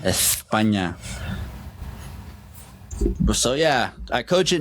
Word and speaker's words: España: then Getafe out in España, for that's how they say it in Spain, España.